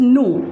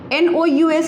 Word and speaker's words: nous: Now come to this one, that is nous, N-O-U-S, nous.